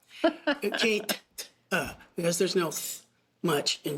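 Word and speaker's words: Käthe: a woman it's not Kathy it's not Kathy it's K Kate because there's no much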